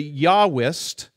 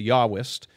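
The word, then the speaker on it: Yahwist: all you have the yahwest all right i know it says j but in german j is pronounced y so it's the yahwest um the yahwest basically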